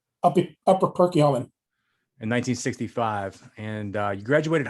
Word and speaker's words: Perkiomen: Perkiomen? Upper Perkiomen.